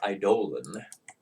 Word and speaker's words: Eidolon: Note you don't want to cast it because of Eidolon, or Eidolon, by proper pronunciation.